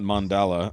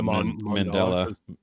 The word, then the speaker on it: Mandela: that doesn't mean yeah it's not mandala it's uh Mandela not mandala not Mandola and just for reference